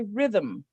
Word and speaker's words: rhythm: It actually has two syllables, but there's no vowel sound in there because the M is sonorous.